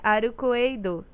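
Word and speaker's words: アルクェイド: Arcade se pronuncia Arukoeido. Soa similar, não é?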